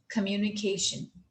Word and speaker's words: communication: कि व्ट इ कम्युनिकेशन इस वर्ड को अगर हम प्रॉपर एक तरह से साउंड में और प्रॉपर एक्सेंट के साथ बोलेंगे तो व विल प्रोनाउंस ट दिस वे कम्युनिकेशन वट इस कम्युनिकेशन तो सी प्रोड्यूस द साउंड ऑफ ख एंड नॉट क in English we generally speak कम्युनिकेशन बट इट इ एक्चुअली कम्युनिकेशन लवेज नवर यू सी